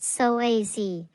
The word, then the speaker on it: psoas: It's often called the mighty psoas, pronounced psoas, for the many important functions it plays in the movement of your body.